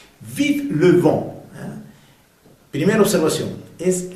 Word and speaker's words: vive: ver cómo se pronuncia vive le vent primera observación es la V en francés hacemos diferencia entre V y B V dentilvial que se pronuncia V de viento en fron Il a b larg boule de neige.